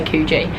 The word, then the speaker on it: Coogee: I have always, and I feel like I will always say Coogee. If anyone's been to Australia and know this area, Coogee's the Australian way to say it, but Coogee's how it's spelled.